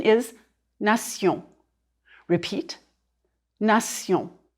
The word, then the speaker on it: nation: The French pronunciation is nation. Repeat, nation. If you know that the endings T-I-O-N and S-I-O-N are pronounced sion in French, you won't have much trouble understanding these French words.